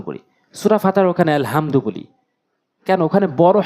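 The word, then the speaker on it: الحمد: বলা যাবে না ইহ আর এখানে আলহামদু বলতে হবে আলহামদু বলা যাবে না হা হা জবর হা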